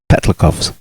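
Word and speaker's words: Petlyakov: We've been getting seriously strafed by IL-2 Sturmoviks and Petlikovs, I do believe. I think that's how you pronounce it. Yep. I looked into it.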